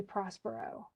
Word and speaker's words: Prospero: pronounced the name of Prospero he says Prosper but that's just so it fits in the in the The Poetry it did base my